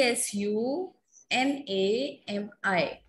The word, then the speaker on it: tsunami: Ma'am, in the spelling, T is silent. Yes, T is silent. Ma'am, please repeat the spelling. T S U N A M I.